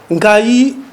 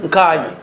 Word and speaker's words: Nkayi: Nkayi, que vous le trouverez là-dedans, les explications sont dans les livres. C'est la prononciation Kamba, mais reprise en français par Kayi, puisque ce sont eux qui ont rédigé.